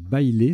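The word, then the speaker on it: baile: Le tirage suivant, là c'est un petit coup de vocabulaire, il faut connaître bailé, ça se prononce comme ça, B-A-I-L-E, donc un E au bout de bail.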